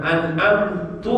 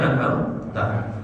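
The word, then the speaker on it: أَنْعَمْتَ: Contohnya seseorang mengatakan an'amtu alaihim, harusnya an'amta. An'amta artinya apa? Yang telah kau beri nikmat. Tapi kalau kita baca an'amtu alaihim, yang telah aku beri nikmat, berubah arti.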